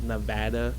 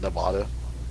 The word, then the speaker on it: Nevada: man from Las Vegas Nevada our store director once told me that because he's from uh the East Coast uh he once told me because he said Nevada and I'm like no it's Nevada and he had an